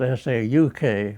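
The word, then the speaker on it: Sac: that's spelled S-A-C, and it's actually a derivative of an Indian tribe's name called the Sauk, which is S-A-U-K, but due to the translations of it, it became Sauk, S-A-C.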